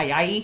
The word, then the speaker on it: Ayayi: And, I mean, Ayayi, I think is how you say it? Yeah, Ayayi.